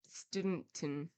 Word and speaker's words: Southampton: Thus, for Southampton, they say Studenton.